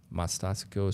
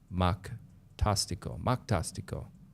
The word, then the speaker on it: Mactastico: Mastastico, sorry, I'm just behind on stream. It's pronounced Mactastico, like fantastic, but starts with a Mac and ends with an O.